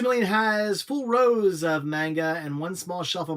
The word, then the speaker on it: manga: Manga is pronounced manga. I mean, that's great. It's manga. The A makes the other A long.